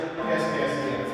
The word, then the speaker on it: Kaskaskia: How's it pronounced, by the way? Kaskaskia? Kaskaskia? Kaskaskia.